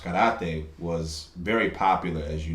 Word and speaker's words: karate: So like when the Koreans came to town, and karate was, or properly pronounced karate, was very popular, as you know, throughout the 60s, 70s, 80s.